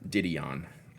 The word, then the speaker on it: Didion: uh joan died on d-don how do you pronounce the name i know she's a just a great prolific writer didion didion yeah didion didion i picked up uh